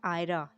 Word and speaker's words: آئرہ: کے معنی ہیں پانی کی طرح تیز بہنا۔ سپیلنگ ہے ABRISH۔ نام ہے آئرہ، AIRA، آئرہ۔ آئرہ کے معنی ہیں قابل عزت۔